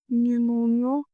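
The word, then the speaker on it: pneumonia: निमोनियो पता है पहले मुझे लगता था कि निमोनिया की स्पेलिंग पी से क्यों स्टार्ट है? अभी मुझे वलेस लगता है कि मुझे बोलना ही नहीं उससे तो स्टार्ट क्यों करना है?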